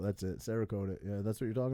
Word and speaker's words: Cerakote: to the guns oh my oh uh uh karyote or karaoke okay karaoke whatever it's called sarah i forget how's it pronounced cerakote that's it cerakote yeah that's what you're talking about yeah yeah